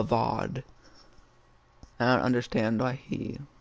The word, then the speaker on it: Avad: sun king's name wrong he said a vad it's not a vad it's a vaude i don't understand why